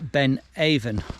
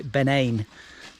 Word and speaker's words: Ben Avon: um one i missed a couple of weeks ago so uh this is uh ben aven or should i say ben ain as the gaelic pronunciation um it's a long